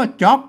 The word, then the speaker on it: จ๋อก: ตัว อ่ะ สัญกา นะ ครับ มา อ่าน ว่า จ๊อก นะ ครับ อ่าน ว่า จ๊อก นะ ครับ แหม่ ได้ แล้ว นะ อ่าน ตาม